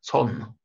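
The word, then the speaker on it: צאן: Буква алиф не передает никакого звука, и огласовки она никакой не имеет. А дальше идет буква нун софит. Слово читается как цон. Буква алиф даже не моделирует паузы, да? То есть он читается это слово именно как цон, а не как цон.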